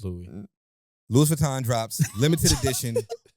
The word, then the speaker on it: Louis: yeah Louis Vuitton Louis Louis Vuitton is a proper way to say it guys it's Louie Louis Vuitton drops limited